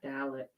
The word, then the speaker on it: Dalek: you do to a cat how do you pronounce darlick dalek dalek that's it just darla can it this is